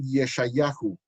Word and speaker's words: Yeshayahu: primeros que aparecen allá tenían la costumbre de agregarle una letra o al final de manera que lo pronunciaban yeshayahu y yermi ajo para isaías y jeremías